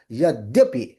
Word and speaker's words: Yadyapi: So you will have to say Yadyapi.